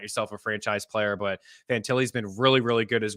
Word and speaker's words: Fantilli: I was like, did I pronounce it Adam Fintali? Did I pronounce that wrong? Like, what am I doing over here? It was just in my head. Maybe I didn't. Fantilli, Adam Fantilli, fantastic player.